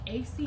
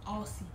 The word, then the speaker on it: Aussie: I don't know if it's pronounced like AC or Aussie, but I really think it's pronounced Aussie because of the way it's spelled.